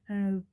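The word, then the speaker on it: obeah: Well, it's why what becomes like guess like an OA. I think that's how you say it. O B E A H.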